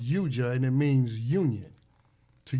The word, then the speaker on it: yoga: standpoint, first of all, yoga is really pronounced yuja, I found out. And this is from a lady that grew up in India herself. It's pronounced yuja, and it means union, to yoke.